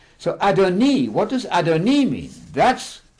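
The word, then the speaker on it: אֲדֹנִי: at that second law the word is adoni there's a vow H underneath the noon there pronounced e not I not Adonai absolutely not that makes a huge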